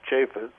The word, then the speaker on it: Chafets: way it's pronounced in Hebrew but in English it's spelled c-h-a-f-e-t-s chaffis and if anybody who's this he wants to